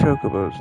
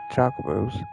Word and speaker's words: Chocobos: Your pronunciation's all wrong. It's Chocobos, not Chocobos.